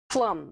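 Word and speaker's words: Pflaum: suburb p-f-l-a-u-m p-f-a-l-u-m-p a p f l a u m that's right plum wow how do you say that plum isn't that a funny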